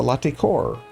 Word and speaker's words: Latécoère: I'm and this is Stormworks, and behind me is the Latecoere.